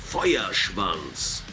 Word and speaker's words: Feuerschwanz: And the right way to pronounce our name is Feuerschwanz. Feuerschwanz.